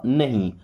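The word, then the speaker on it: know: होता है मत या नहीं नो इस वर्ड में के भी साइलेंट है डब्ल्यू भी साइलेंट है साइलेंट का मतलब पढ़ा नहीं जाएगा उच्चारण नहीं करेंगे लिखा रहेगा ओके नहीं तो मीनिंग ही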